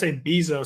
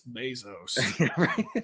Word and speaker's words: Bezos: The Jeff is abyzou. Some apparently. I've been censured and canceled and it's Bezos.